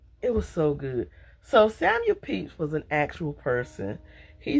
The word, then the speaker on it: Samuel Pepys: to look up the name so I could pronounce it right, in the Samuel Pepys Mystery Series, The Brampton Witch Murders.